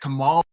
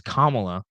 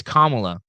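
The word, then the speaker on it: Kamala: poll is saying that Kamal first of all dumb it's kamla say it right it's kamla it's kamla Harris secondly Iowa voted for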